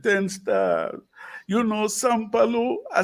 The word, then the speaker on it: Sampalue: Let me pronounce it right. Sampalue, right? Sampalue.